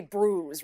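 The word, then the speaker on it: brewis: I believe it's spelled B-R-E-W though. B-R-E-W-I-S. Yeah. Because I always thought it was brews. We say brews, right? Like B-R-U-I-S-E. Yeah. So it's fish and brews.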